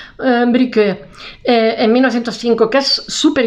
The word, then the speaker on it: Brücke: Se escribe Die Brücke, se dice ahí porque lleva dos puntillos arriba, Brücke, en 1905, que es súper histórico.